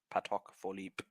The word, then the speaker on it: Patek Philippe: There is a question about the pronunciation, and it's actually it's Patek and not Patek. Patek Philippe.